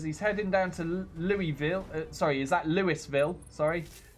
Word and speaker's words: Louisville: or something like that Yakko says Louisville oh so it is Louisville you see that's what I would have said but then I'm sure one of you guys told me not to pronounce stuff the Frenchy way or was that just confusing you just a different place in America that doesn't apply the French rule and then this one